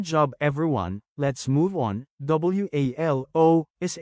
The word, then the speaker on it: walo: WALO is 8 in Bicol. Change A to AH and O to UH, then pronounce it as Walo.